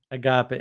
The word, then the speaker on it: agape: friend kept correcting me it's not a hard G the the aape type love and I still think the rest of us would say Agape but Agape Agape yeah well uh